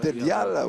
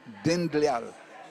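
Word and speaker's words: Dindyal: Dedial, whatever the pronunciation is, Dedial, D-I-D. D-I-N, Dindlyal, D-I-N-D-Y-L, Dindlyal.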